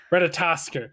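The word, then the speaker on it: Ratatoskr: Yeah, basically it's Ratatosker. Ratatosker. That's how it's pronounced. Okay. But yeah, the unique Ratatosker is the one.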